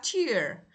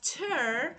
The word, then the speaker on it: tear: When you cry when you cry you have tear but tur for example when you rip something is tur.